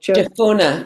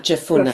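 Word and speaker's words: Jephunneh: And Joshua son of Nun and Caleb son of Je, how do you pronounce that? Japuna. Japuna.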